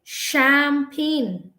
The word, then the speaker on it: champagne: that it can be actually a sure sound it's actually champagne pain for us brain means p-a-i-n but here the pain is actually p-a-g-n-e all right so let's